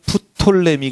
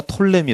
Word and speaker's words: 톨레미: 대로 누구 라고 말하면 시작 p 사운드가 묵음 이라고 되며 푸 톨레미 가 아니라 톨레미 라고 말씀드렸죠 어디는 부 톨레미 왕조